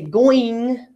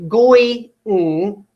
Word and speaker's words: going: I don't say going, going.